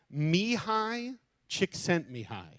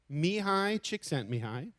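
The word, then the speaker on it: Csikszentmihalyi: he deserves credit because it's an interesting book Mii chick sent Mii Mii chick sent Mii it's spelled not at all like you would expect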